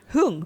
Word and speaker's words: Hoeung: what is that it's h hung yes okay hung and uh and